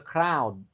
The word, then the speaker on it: crowd: If I were taller, I could see over the crowd. Nah, ini juga lagi aneh kan, tulisannya O, tapi cara bacanya AO, crowd.